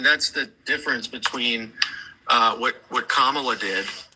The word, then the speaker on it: Kamala: And regardless of what you think, when it comes to how Kamala is doing, her name is Kamala, by the way. It's pronounced Kamala. But you said Kamala real quick.